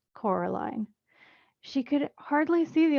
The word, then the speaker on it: Coraline: name wrong you know they keep saying Coraline not Caroline not Caroline at all he picked up the